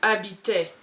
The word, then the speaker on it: habitait: English right now, but the H in French at the beginning of words, you don't pronounce it. So habit. Okay. Habit. But it's not habit, it's H-A-B-I-T A-I-E-N-T. Oh, qui habitait.